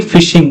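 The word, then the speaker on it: phishing: So pronunciation would be fishing the same as fishing.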